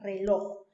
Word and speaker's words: reloj: Ahora pasemos a la siguiente palabra, reloj. ¿Cuántas sílabas tiene la palabra reloj? 2. Reloj. ¿Dónde está la mayor fuerza de voz? ¿Dónde está la sílaba tónica? En loj, ¿cierto? En la última sílaba.